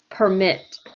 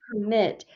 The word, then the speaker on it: permit: so numbers now permit number three underline mit yes this is a verb number three so we say it permit okay number four a parking permit we underline the pr in number four yeah permanent okay a